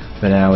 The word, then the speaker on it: Vanao: Vanao is spelled V-A-N-A-O.